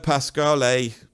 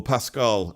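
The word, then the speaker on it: Pascoal: The great Hermeto Pasquale, or Pascal to say it properly, I never know how to say these foreigners because I'm British.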